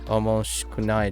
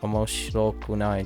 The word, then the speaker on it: 面白くない: I thought it was omoshikunai desu, but it's omoshirokunai desu. 面白くない。